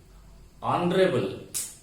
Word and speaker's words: honorable: Here, the word is beginning with H, but H is silent here. And the word is beginning with vowel sound.